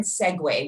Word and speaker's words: segue: So according to the Webster Dictionary, the word segue, which is spelled for real, S-E-G-U-E, it means to make a transition without interruption from one activity, topic, scene, or part to another.